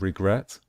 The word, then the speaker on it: regret: the same with regret with regret we stress the last syllable the final syllable that is why we